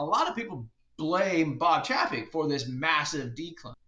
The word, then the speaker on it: Chapek: And then when he left as the CEO, Bob, I always butcher his name, Bob Chapek, I believe is how you say it.